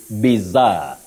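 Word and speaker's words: bizarre: back to that word we have only a single Zed and then we have Double R oh absolutely the word yes bizar yeah bizar a bizar incident so you don't say bizar the way many people innocently say it's bizar bizar okay bizar got it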